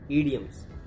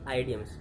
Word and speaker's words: idioms: आज का हमारा टॉपिक है ईडियम्स, ना कि आइडियम्स। पहले तो मैं इसकी प्रोनाउंसिएशन सही करा देता हूँ। जो लोग आइडियम्स पढ़ते हैं तो उनको मैं बता दूँ इसकी एग्जैक्ट प्रोनाउंसिएशन क्या है, ईडियम्स ना कि आइडियम्स।